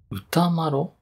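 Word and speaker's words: 歌麿: あ、歌麿って読むんだ。あの一文字でマロなんだね。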